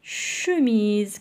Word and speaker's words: chemise: Yani edna hna une وعندنا شوميز كذلك فيها لا لتر او ان شوفال ان